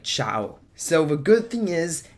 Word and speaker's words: Zhao: First State out there that the name is pronounced Chia um it's pronoun it's spelled z h o